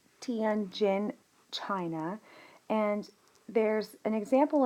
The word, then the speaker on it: Tianjin: So this event, there's a really good example, unfortunately, for it's pronounced Tianjin, China, and there's an example in the spring of 1998.